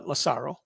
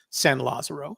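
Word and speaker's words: San Lázaro: had resided on sam uh lasaro uh fenn always pronounced it as san lazaro so i'll respect the way he pronounced it he uh sandow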